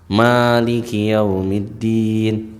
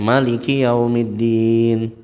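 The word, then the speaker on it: مالك يوم الدين: Maliki yaumiddin. Maknya panjang ya. Tapi ada di antara para qori yang membacanya apa? Pendek. Maliki yaumiddin.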